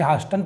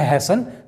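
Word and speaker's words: hasten: हैसन, ना कि इसे हास्टन पढ़ेंगे, कई लोग इसे हास्टन पढ़ते हैं, यह हैसन, जिसका मतलब होता है जल्दी।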